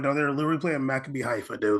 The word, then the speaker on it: Maccabi Haifa: PSG beat Maccabi Haifa 7-2.